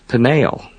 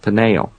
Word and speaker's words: Peniel: Jacob names that place Peniel, P-E-N-I-E-L, slightly different spelling, Peniel, almost identical pronunciation.